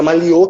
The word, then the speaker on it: Maliô: Eu vi que eu não tenho uma dificuldade de pronúncia, mas é Maliô que se fala.